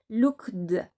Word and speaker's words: looked: Looked par contre si vous le prononcez comme un thé, looked, c'est beaucoup plus naturel.